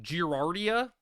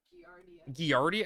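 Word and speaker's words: Giardia: Girardia. That pronounce it more like Gardia.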